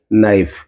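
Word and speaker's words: knife: हम क्या बोलते हैं नाइफ इसमें के साइलेंट रहता है इसमें हो गया कॉम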